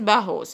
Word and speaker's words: bajos: Guys, J is pronounced as H in Spanish, so it is pronounced as bajos, which means short in Spanish.